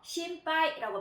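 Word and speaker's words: 心肺: 자, 요게 앞으로 왔을 때는 하이 하고 발음을 하지만 우리가 심폐라는 그런 단어일 때는요. 자, 조금 발음이 변형이 되었습니다. 자, 반타금이 찍혀서 심파이라고 발음을 합니다.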